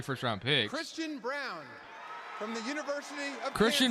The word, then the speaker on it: Braun: He's a good floor spacer, and the way that Braun is pronounced Brown, is it really?